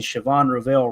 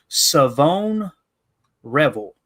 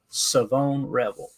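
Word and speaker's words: Shavon Revel: It is Savone Revel is how you say his name. Savone Revel. I'm sure I'll forget that by tomorrow. Like, take the H out of there.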